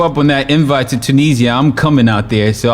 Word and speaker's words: Tunis: Do you pronounce it Tunisia or Tunis? In Arabic is Tunis. Tunis. Yeah, in Arabic is Tunis. So wait, Tunis, the capital, or Tunisia? The capital is Tunis. The country is Tunis.